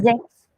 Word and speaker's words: sechs: Okay, sechs. This S, whenever a word starts with S, it should be pronounced as Z.